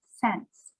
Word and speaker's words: cents: tricky to say sense actually the way that we say it is exactly the same as this word so if we have more than one cent right here we say it the same way as sense sense sense they're the same sound we had also talked